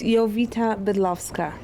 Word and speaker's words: Jowita Bydlowska: It's Jowita Bydlowska.